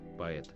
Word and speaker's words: Поэт: So again we have two syllables, по and et. So try to listen. Поэт. Поэт. Поэт. Поэt. Poet. Or is it poet? Poet. I don't think it sounds as poet.